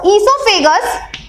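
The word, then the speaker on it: oesophagus: देखो बच्चों, ईसोफेगस, ये जो ईसोफेगस है, आप सुन रहे होंगे कि मैं ई से प्रोनाउंसिएट कर रही हूं, बट इसमें बच्चों ओ भी आ रहा है। तो यहाँ पे ओ क्या है? ओ यहाँ पर साइलेंट है, तो आपको स्पेलिंग पे ध्यान रखना है। ये ओ से स्टार्ट होती है, ई से नहीं स्टार्ट होती है।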